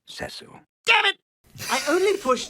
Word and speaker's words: Cecil: look dr pritchfield cecil if i may it's pronounced cecil damn it i only push tyler down the